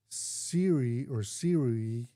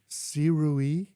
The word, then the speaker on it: Sirui: So it's the Siri, how do you say that? Yeah, Sirui, Nightwalker.